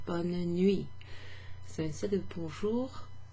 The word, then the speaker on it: bonne: And the reason bonne is pronounced bonne in bonne nuit, where you have that N sound, and sometimes you even hear the E at the end, bonne nuit, is because it's spelled B-O-N-N-E.